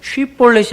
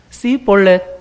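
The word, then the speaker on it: 쉽볼렛: SH 발음이 안 돼. 쉿볼렛이 안 돼. 쉿볼렛 해봐 그러면 C볼렛 그러니까 S를 하나만 붙여서 발음한단 말이야.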